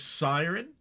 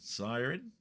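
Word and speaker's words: Siryn: This one is Siren. Think that's how you pronounce it. S I R Y N. Siren.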